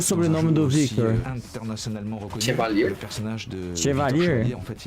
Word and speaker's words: Chevalier: Como se pronuncia o sobrenome do Victor? Chevalier.